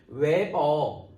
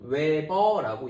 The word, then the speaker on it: Wb: 웨버 WB 웨버라고 읽기로 했다.